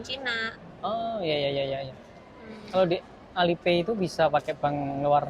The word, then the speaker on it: Alipay: Alipay atau Alipay? Alipay. Ya, Alipay.